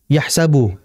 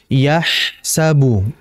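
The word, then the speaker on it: يَحْسَبُ: dan aliran yahsabu ya yahsabu Bukan dibaca yahsabu itu terlalu cepat jadi harus dialirkan yahsabu kemudian berikutnya Anna di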